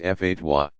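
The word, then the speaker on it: fatwa: issues a legal advisory called a fat way pronounced fa dois specialists in the religious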